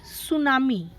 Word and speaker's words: tsunami: Okay, in this T is silent. Okay, we will pronounce is at tsunami.